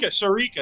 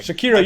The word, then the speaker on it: Shakira: Uh Shakira. Sharica. Sherekica. I said her name wrong. I'm sorry. Shakira.